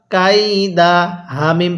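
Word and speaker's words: كيدهم: এরপরে কাফি ইয়া জবর কাই দাল জবর দা কাইদা হা মিম পেশ হুম কাইদাহুম হ্যাঁ কিভাবে পড়বো আলাম ইয়াজাল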